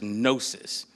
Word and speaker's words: gnosis: Greek word is gnosis. It has a silent G at the beginning, G-N-O-S-I-S.